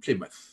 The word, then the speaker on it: Plymouth: you can even say but now live in Plymouth น ะ ค รั บ Plymouth ค รั